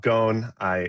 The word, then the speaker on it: Gone: My name is Gone, which rhymes with phone.